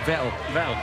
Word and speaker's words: Vettel: Vettel. Norbert Vettel. Vettel as in kettle.